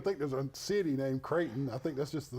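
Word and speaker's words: Creighton: down they pay play creatin and tus loo on December the 14th they don't play creatin they play kraton kraton it's not creatin it's not creatin Katon it's c r e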